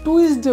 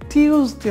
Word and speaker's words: Tuesday: উচ্চারণ বাদ দিয়ে ওয়েডনেসডে তারপর আমরা আরও কিছু উচ্চারণ করি যেমন TUESDAY এটা আমরা টুইজডে বলি টুইজডে কিন্তু এটা টুইজডে না টিউজডে হবে উচ্চারণ সঠিক উচ্চারণ হবে টিউজডে প্রিয় শিক্ষার্থীরা